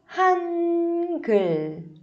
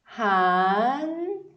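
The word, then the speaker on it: 한글: E o nome do alfabeto coreano é Hangul. Hangul. Hangul. Percebe que eu estou levantando a língua?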